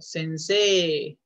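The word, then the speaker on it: 先生: recordar, cuando se les, cuando tengan una E y una I, eso se pronuncia como una doble E, como en el caso de estudiante. Gakse. Gakse. Maestro. Sensei. Porque se escribe sensei literalmente, pero el, la E y la I suenan, es un alargamiento vocal.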